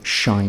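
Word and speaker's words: sinh: We define the hyperbolic sine of x, pronounced shine x, as shine x equals e to the x minus e to the minus x on 2.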